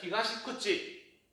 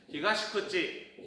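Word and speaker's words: 東口: 히가시구치, 히가시구치. 자, 발음 틀리게 했어요. 뭐냐? 하나는 쿠치라고 했고 하나는 땡땡 붙여서 구찌라고 했어요. 히가시쿠치, 히가시구치.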